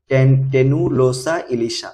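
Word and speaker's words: Tenualosa ilisha: এরপরে আমাদের জাতীয় মাছ ইলিশ ইলিশ ইলিশ হচ্ছে টেনু লোসা ইলিশা উচ্চারণ কি হবে টেনুলোসা ইলিশা আবার হিলসা ইলিশাও বলা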